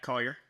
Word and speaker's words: Collier: Yeah, Collier.